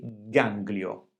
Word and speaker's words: ganglio: E infine abbiamo parole come anglicano, ganglio. In questo caso le consonanti G e L sono seguite dalla vocale I e non sono all'inizio di una parola. Perché non abbiamo il suono gl? Qui abbiamo l'influenza della lettera N, del suono N che si trova prima. Quindi anglicano e ganglio. La N quindi modifica l'articolazione del suono e quindi non potremmo dire anglicano o ganglio.